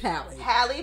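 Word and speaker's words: Halle: is none other than Haley Hi H it's haly Bailey yes sorry for the mispronouncing girl I love you so I've been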